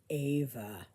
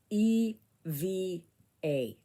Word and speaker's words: Eva: And my name is Ava, but it is spelled E-V-A, but pronounced Ava, because um, I grew up in a German household. My parents came from Germany, and I was named after my grandmother and my aunt. And in German, it's pronounced Eva.